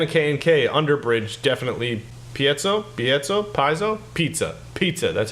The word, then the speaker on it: piezo: neck pickup and a K&K underbridge, definitely Piezo, pizza. That's how you pronounce it, Frank.